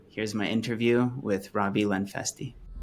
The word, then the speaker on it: Lenfestey: So, without further ado, here's my interview with Robbie Lenfesty. Robbie, how's it going, Yash? Good to see you. Good to see you, brother. Am I pronouncing your last name correctly? You are. Lenfesty. Lenfesty. Great.